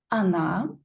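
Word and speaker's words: она: on also feminine gender Anna pay attention that we pronounce or like ah because here or is unstressed and there is a ruler Russian that if or is unstressed we pronounce it like ah and neuter gender ano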